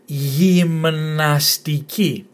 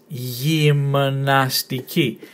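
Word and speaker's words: γυμναστική: And this one here, gymnastiki. Again, emphasis on the last syllable, gymnastiki. And it means gymnastics. So that's the word gymnastics, that's where it comes from the Greek word gymnastiki.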